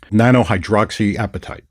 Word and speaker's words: nanohydroxyapatite: They have something called nanohydroxyapatite. Okay? Nanohydroxy what? Nanohydroxyapatite. Appetite? It's called nanohydroxyapatite. Okay. Nanohydroxyapatite. It's not appetite like an eating appetite.